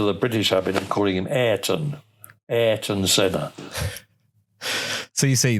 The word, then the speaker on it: Ayrton: of aan senna's name the correct way to pronounce senna's Christian name name is Aon uh and his actual full name is Aon